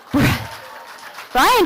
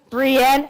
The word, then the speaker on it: Briann: Brian, come on up. All right, this one's all about your Starseed mission. So read it. Brienne, but it's spelled Brian.